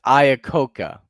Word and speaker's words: Iacocca: Iacocca. Okay, James says it's pronounced Iacocca.